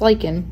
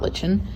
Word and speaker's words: lichen: Over time, a new species will move in, most likely lichen, and it's pronounced lichen, not lichen, and kick off the succession process.